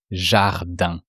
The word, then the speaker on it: jardin: You don't pronounce the last N. It's the sound un.